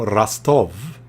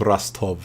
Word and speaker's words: Rostov: Vladimir from Rostov. I believe it's called Rostov, not Rostov, as you spell it, but it's Rostov.